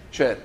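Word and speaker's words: Schär: Non è Kier, che tutti chiamano Kier, si chiamerebbe Scher in Danimarca, però va bene. Scher. Come la cantante. Scher.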